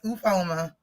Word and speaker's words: Ufuoma: I'm wondering if the U is silent, is the O silent? I'm like, I have the no... second U is silent, and it's ooh, like ooh, that girl got that fire.